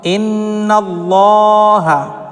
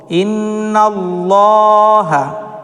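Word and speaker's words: إن الله: উচ্চারণ করে থাকি যেমন ইন্নাল্লাহা দেখুন এখানে লাম মুশাদাদের পূর্বে দেখুন নুনের মাথায় কিন্তু দেখুন এখানে জাবার এসেছে লাম মুশাদাদের পূর্বে জাবার এসেছে সেজন্য আমরা এটাকে ল পড়বো ইন্নাল্লাহা এইরকম অবশ্য গণনা সহকারে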